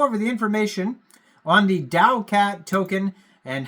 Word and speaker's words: TAOCAT: talking about but uh that is how you actually pronounce t a o is Dow so I guess we'll